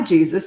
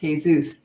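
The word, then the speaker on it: Jesús: And I said, oh, hi, Jesus. It's nice to meet you. And he goes, well, thank you. But actually, it's pronounced Jesus.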